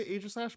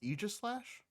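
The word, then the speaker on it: Aegislash: and i've actually heard i used to say age slash but i heard it was actually pronounced aegis slash aegis yeah i heard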